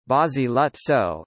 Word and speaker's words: Basiluzzo: Basiluzzo, Italian pronunciation, Basiluzzo, is an islet, barely 1 square kilometre 0.39